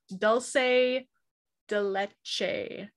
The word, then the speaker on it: dulce de leche: caring chunky cakes and i was instructed in how to pronounce this i have been saying it wrong dulce de leche i didn't write it down dulce de leche dulce de leche dulce de leche apparently so it's um creams